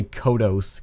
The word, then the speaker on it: Kodos: And I say Kodos because that's the pronunciation for the Simpsons character, so Kodos it is.